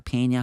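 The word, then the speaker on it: Peña: 그리고 패드 같은 거를 막 보면서 이제 이름을 체크하고 나서 뭐닥터 페냐 했다가 페냐 페나라고 발음 잘못했다가 페냐라고 고쳐주는 장면 기억나죠?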